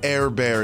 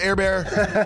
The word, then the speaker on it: Herbert: because i called him air bear air bear is just the first pronunciation of his last name it's not a nickname